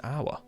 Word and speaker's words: hour: When you write an hour, like a hour, you have to put an hour because you don't pronounce the H in hour, do you?